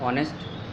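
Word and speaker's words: honest: ऑनेस्ट, इसका pronunciation ऑनेस्ट, यानी ऑ से स्टार्ट हो रहा है तो एन आएगा पहले।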